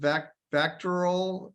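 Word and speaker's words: VACTERL: I don't know whether it's pronounced Vactoral.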